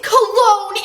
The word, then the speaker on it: Cologne: Oh my god, it's Cologne! It's pronounced Harry Cologne Jr.